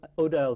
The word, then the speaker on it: Odile: And so the thing I was going to ask you about Girls, though, is Odile Crick. Odile, it's pronounced.